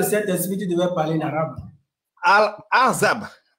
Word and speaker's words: Al-Ahzab: Al-Azab. Al-Hazab. C'est comme ça qu'on prononce ça.